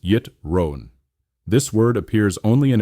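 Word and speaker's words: יתרון: The word amal work connects to our fourth key term yittron spelled yervon and pronounced yitron.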